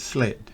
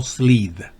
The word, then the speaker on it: sled: pronunciación original en inglés, sled. No slid, sino sled, corto.